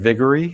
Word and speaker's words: Viguerie: Richard Viguerie.